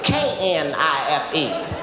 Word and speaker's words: knife: She said the K is silent.